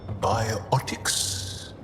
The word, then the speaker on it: biotics: Have biotics.